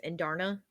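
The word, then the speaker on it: Andarna: I have to watch that video again huh andara yeah something like that I don't know I have to watch that video again that's how that's how it's pronounced in the video oh perfect thanks and Darna and Darna that's pretty yeah oh that's so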